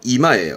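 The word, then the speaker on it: 居間: 이때 발음은 이마예요.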